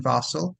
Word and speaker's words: Fassel: be found on T it's fossil and my name is in the episode description because it's not spelled like how it sounds yeah uh I've got